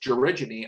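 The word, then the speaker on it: gerygone: The georigine, this word is pronounced georigine, are also thornbills, western georigine and large-billed georigine in these 2 photographs.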